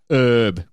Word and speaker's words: herb: Herb. Herb. Without the H. It's got to be herb.